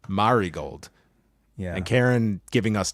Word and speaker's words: Marigold: put everyone on notice not maragold Marigold yeah and Karen giving